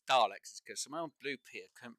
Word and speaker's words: Daleks: the old version and now everyone says dialects it's not Daleks it's Daleks you know if you've read the writing and you hear them say it for the first time it's Daleks not Daleks which is absolutely hilarious